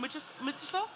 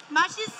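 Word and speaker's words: 맛있어: Michiso? How do you say delicious in Korean again? Machiso. Oh, machiso. Michiso is crazy, I think, right?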